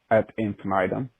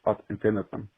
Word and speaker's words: ad infinitum: It's not pronounced Ad Infinitum, but Ad Infinitum.